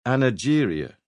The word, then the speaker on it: angeria: The first respected doctor to give it one back in the 1890s called it angeria with a soft G.